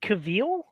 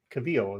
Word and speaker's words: Cavill: It's interesting because is it Cavill? Cavill is how it's pronounced.